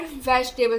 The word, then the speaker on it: vegetable: यानी कि ज़्यादातर वाटर हमें कहाँ से मिलता है, फ्रूट्स और वेजिटेबल से। मैंने वेजिटेबल होते हैं, वेजिटेबल नहीं होते, वेजिटेबल होता है, ये वाला ई साइलेंट होता है।